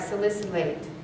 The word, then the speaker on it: salicylate: by the way yes you're saying it right salicylate okay cherries you know i know these two